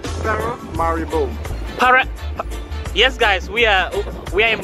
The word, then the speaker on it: Paramaribo: So it's pronounced as Paramaribo. Paramaribo.